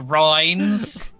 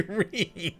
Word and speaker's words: Rhine: With your Rhines I don't say Rhine, I say Reen.